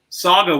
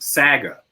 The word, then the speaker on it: Saga: I was saying how in the prairies, especially, Saga is pronounced Saga. Have you ever heard that? Of course you have, because they've even pronounced it Sega.